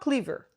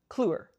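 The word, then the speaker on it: Kliewer: Also written by Marcus Clure, not Clever. Cluer.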